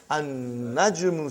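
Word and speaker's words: النَّجْمُ: Now we have an-najmu. So how will you pronounce, brother? An-najmu ba'idun. You did not pronounce lam.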